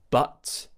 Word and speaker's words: but: an a sound because many of my students pronounce words like but a bit like bat where they push the tongue down too much and open the mouth too much. So, but bat a much match cut up app.